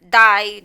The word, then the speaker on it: dig: spelling is jig or like um die die is like the ig which is g so it's like silent it's like dick like die it's not else ask her dig no no die yeah it's really hard